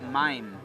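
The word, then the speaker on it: מים: What can you tell me about mayim?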